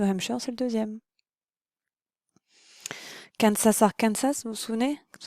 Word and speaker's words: Arkansas: c'est le deuxème Kas Arkansas vous vous souvenez Kas arkansa pour prononcer correctement donc c'est le deuxième